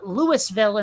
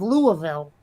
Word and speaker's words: Louisville: go into that other place and call it lewisville instead of louisville you see what i'm saying is like people